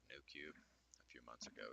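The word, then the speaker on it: Noocube: Aderall like a called New Cube I paid a pretty penny for quite a few bottles I should also point out that new is spelled no so n o o q for show you guys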